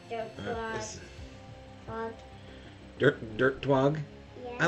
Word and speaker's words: Twog: Dirt Twog, which is spelled like twig, but it has TWO, which is 2. Like the number 2.